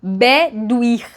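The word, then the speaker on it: Bedwyr: Por exemplo, esse nome daqui aqui tá dizendo que a gente pronuncia como bedir, mas escreve como b e d yr.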